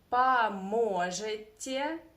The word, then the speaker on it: поможет: Don't forget about Russian reduction here. Okay, that first O we should pronounce as a.